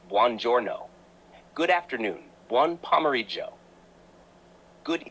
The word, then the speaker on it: buongiorno: Good morning, buongiorno, pronounced buongiorno.